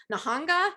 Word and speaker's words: Nihonga: As you can see from this art, he combines abstract expressionism with Japanese traditional painting, Nihonga. Is that how you pronounce it? That's correct. Yeah. Nihonga.